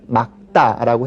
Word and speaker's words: 맑다: 맑다, 물이 맑다 뭐 이렇게 발음할 수도 있지만 리을 기역이니까 뒤에 오는 막다라고 해야 되겠고요.